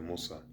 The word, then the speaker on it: Musa: birth of the Prophet Musa, or which Musa means Moses. That's the how they say it in the Arabic language, and that's the pronunciation.